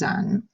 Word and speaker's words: eau: any of those sounds pronounce this as if it was one giant letter o you pronounce EA you